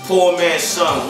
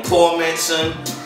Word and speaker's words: Poormanson: boy poor man son that's pronounced poor man son one word you know what I'm saying ain't no poor man son ain't no poor Manon it's poor man son you know what I'm